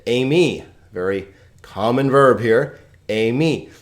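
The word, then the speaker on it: εἰμί: Amy. How many syllables here? Well, A is a diphthong, right? So it's a, me.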